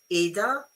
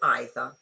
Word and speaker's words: either: In the okay, you can pronounce this either or either. Okay, I say either.